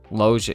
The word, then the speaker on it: Lugia: Logia. Yeah, kind of like Robert Logia. Right. Like how, exactly. Like you wouldn't say that Logia.